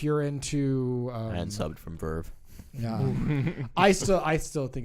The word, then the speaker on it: VRV: It's not a VRV. It's Verve. It even says on the website Verve.